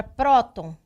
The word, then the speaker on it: próton: Nós sabemos que a palavra próton, ela é acentuada porque a sílaba tônica é a penúltima, isso faz dela uma paroxítona, porém é uma paroxítona, então, terminada em N.